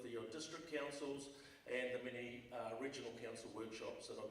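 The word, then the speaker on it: Maher: And just a note, first off, my surname is spelled M-A-H-E-R, so when you do see the book, please make sure you look out for that, M-A-H-E-R.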